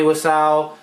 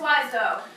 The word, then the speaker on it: Wiseau: I know it's Wiseau. She knows it's Wiseau. Wiseau. No, it's not. It's spelled E-A-U. Okay. That's O.